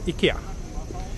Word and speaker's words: IKEA: do you pronounce ikea ikea it's how we pronounce it in swedish which is very similar to the japanese way of pronouncing too but